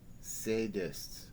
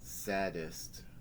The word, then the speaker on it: sadist: what you're talking about that's sadist not saddest you know Charles Wallace said and giggled again lots of people don't pronounce pronounce it correctly well I don't care